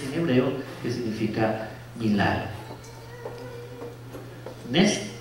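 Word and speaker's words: נס: Nes, N-E-S-S. Sí, así sería la pronunciación en español, Nes.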